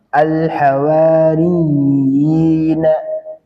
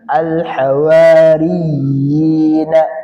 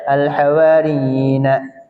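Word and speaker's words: الحواريين: Dan ini cara bacanya ada penekanan alhawariyina ada penekanan alhawaryina. Nah, ini ada penekanan di sini ya. Ada alhawariyina penekanan yina. Jadi tidak dibaca alhawariina seolah-olah enggak enggak ditekan.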